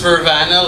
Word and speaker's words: Vrvana: called true player gear before uh so it's pronounced vervana like Nirvana first of all uh we started